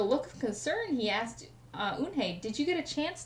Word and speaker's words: Eunhye: Inhai!" shouted Ralph. Everyone tried to say it. "Yanahi! Eunhye!